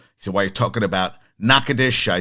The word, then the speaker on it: Natchitoches: was murdered by a former player, and I butchered the names. So Gumbo Chef reached out to me. It is Natchitoches, Louisiana.